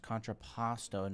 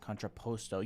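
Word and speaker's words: contrapposto: It's pronounced controposto, not controposto. You know, I thought it was that, but then someone absolutely roasted me saying it was controposto.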